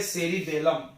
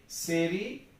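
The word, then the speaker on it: cerebellum: वो है सेरिब्रम और ये है सेरिबेलम। क्या है ये? सेरिबेलम।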